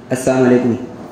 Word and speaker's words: السلام علیکم: جیسا کہ آج کل ہم لوگ بھی ایسے ہی سلام کرتے ہیں نا, السلام علیکم, السلام علیکم. صحیح تلفظ کیا ہے؟ السلام علیکم. لام کے ساتھ پڑھا جائے تو معنی ہوتا ہے